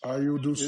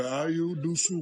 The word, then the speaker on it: Ayo Dosunmu: So how would Minnesota overcome the loss of 2 starters Ayo Dosunmu in this game? That's how. I tell you what. Exactly. Say his name correctly. Ayo Dosunmu.